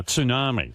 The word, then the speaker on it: tsunami: And I'm actually saying it now, tsunami. That's the way it's pronounced.